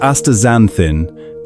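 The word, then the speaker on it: astaxanthin: Aexanthin, pronounced aazanthin, this remarkable compound is recognized as one of the most potent natural antioxidants found anywhere on our planet.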